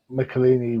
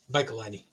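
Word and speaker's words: Michelinie: that point so and melini was on can I say it right this time michelini but anyway that's cool nobody pronounces it right um he was on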